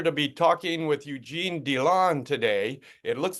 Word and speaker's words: Dilan: my great pleasure to be talking with Eugene donon today it looks like it's spelled Dillan or that's how I wanted to pronounce it but Eugene corrected me and said it's donon so Eugene great to have you on the